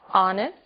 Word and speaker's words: honest: O som do H. Pronunciado desde a garganta, como em hotel, e mudo em 3 casos. Our, honest, honor.